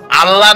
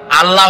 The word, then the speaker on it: আল্লাহ: বলেন তো আল্লাহ নয়। কিন্তু আল্লাহ হচ্ছে অশুদ্ধ।